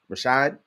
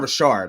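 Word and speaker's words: Rachaad: you pronounce it it's it's r-a-c-h-a-a-d Rashad it's not Richard I know it's not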